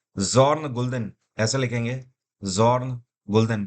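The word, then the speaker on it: Bjørn Gulden: तो इनका नाम है जॉर्न गुल्दन। ऐसे लिखेंगे, जॉर्न गुल्दन। बी साइलेंट रहता है इनके नाम में, गुल्दन।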